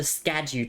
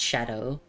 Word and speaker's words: Scadu: Uh and of course that's the shadow tree up there, not the scadu tree. It's it's pronounced shadow.